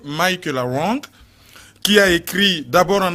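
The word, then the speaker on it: Michela Wrong: Donc en français on dit Michaela Wang, mais en anglais c'est Michaela Wang, qui a écrit d'abord en anglais Don't Disturb et en français Rwanda, Assassins sans frontières.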